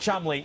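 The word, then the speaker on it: Cholmondeley: a young 13 year old boy Lord Oliver Chumley now it's spelled chobondale or something like that it's pronounced Chumley now he's a twin his older brother clearly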